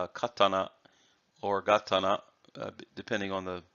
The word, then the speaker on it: katana: which in the Western tongue as you say katana but properly said is katana and also Saudi so these are the katana